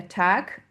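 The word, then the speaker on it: Tag: la pub de Volkswagen Autoc le jour de tac pareil à la fin le G se prononce hein d'attaque et front l'ami euh entre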